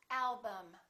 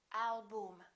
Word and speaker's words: album: they're both reduced syllables repeat after me madam problem symptom album don't say madame problem album in some languages you